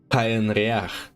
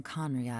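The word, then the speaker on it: Khaenri'ah: Я слышал, как какая-то ютуберша произносила Конрия как Каенриах. Меня это задело немножечко больше, чем должно было. Каенриах. Серьезно, Каенриах. Я знаю, что оно так написано. Но не легче просто говорить Конрия.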